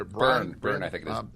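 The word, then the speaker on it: Byrne: Ronda uh Bryant BR how do you say burn burn I think it b r yeah um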